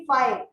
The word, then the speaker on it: phi: पाई नहीं, फाई, एफ I. Actually ये उसका प्रोनाउंसिएशन है, जैसे इस सिंबल को अल्फा बोलते हैं, इसको बीटा बोलते हैं, ऐसे इसको फाई बोलेंगे।